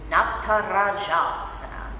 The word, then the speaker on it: Natarajasana: of that element of not para shops that's how you say this word that means dancers pose and it's exceptionally importantly pronounce this word right because it's not just a word somebody's name so lift up opposite